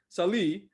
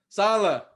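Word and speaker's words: Saleh: signing their heck new head coach robert robert sally who came from the story did i say it right ah damn it salah salah i knew i was gonna screw it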